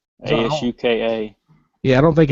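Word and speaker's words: Asuka: it's uh oh no it's not a sukkah ASU ka yeah I don't think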